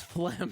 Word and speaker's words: phlegm: It's phlegm, dude. It's pronounced phlegm.